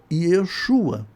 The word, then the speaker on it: Yeshua: Por isso, muitos pronunciam o nome, tá ok? Yeshua, porque essa seria a pronúncia mais próxima do hebraico.